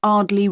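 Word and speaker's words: Ardleigh: 24 Ardley Road. Can you spell that?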